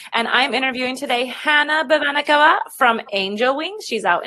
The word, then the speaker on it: Babanakava: But you do say it Babanakava.